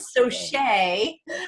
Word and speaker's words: Saucier: But I keep saying Saucier because it's spelled French, and I keep hearing it in French. Saucier.